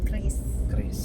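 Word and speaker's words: QRIS: sudah mulai gitu nah jadi Kris apa cis sih kalau katinya sekarang Kris di mats juga banyak yang memperdebatkan bacanya tapi tapi Bank Indonesia Bi udah ngeluarin aturan pembacaannya namanya Kris Kris gitu nah anyway jadi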